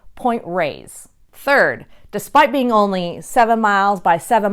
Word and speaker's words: Point Reyes: like cowgirl Creamery so a lot of the transplants and the tourists as well tend to call this Point Reyes and that seems to be the more popular pronunciation although most locals who've been there for a very long time still call it point raised third despite being only